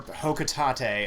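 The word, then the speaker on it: Hocotate: my family on planet hoka tate or hokutate as it may be pronounced i've i've always said hoka tate and i will continue to say as such analysis shows life support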